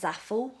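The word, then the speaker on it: Zaful: Got that from, it's pronounced Zaffle.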